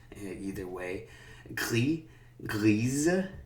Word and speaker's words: grise: Gris, grise. Here we pronounce the Z, kind of when the E is after.